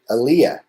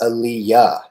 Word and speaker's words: Aliyah: a piece of paper would pronounce it aaliyah like this guy right here and i'd have to correct them it's aliyah teachers interviewers doctors they'd